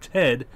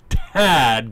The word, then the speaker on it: Tad: Space Ghost, whose real name is Tad Eustace Ghostel, and I overpronounced that because in the last video, a lot of people claimed that I said Ted rather than Tad, so Tad Ghostel, was occasionally conflicted